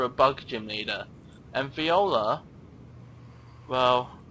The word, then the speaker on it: Viola: And Viola, well, sounds like Voila, or whatever people say when they, like, you know, take a picture or make a cake or whatever you do. And Viola is spelt Viola, and Voila is Voila.